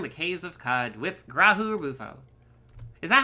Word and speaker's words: Grahu-Rubufo: caves of cod with grahu or bufo is that how you pronounce it yes yeah graham bufo wonder so uh it's it's emphasis on the first syllable of each word good to see you